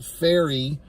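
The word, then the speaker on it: Pharry: uh early on there's a character named Taylor faery that's how it's pronounced p h a r r y so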